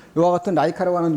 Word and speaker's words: 라이카: 2호기를 만들어가지고 이와 같은 동물, 이제 뭐, 라이거라고 되어 있지만 라이카라 카라고 많이 발음해요. 이와 같은 라이카라고 하는 요 동물을 갖다가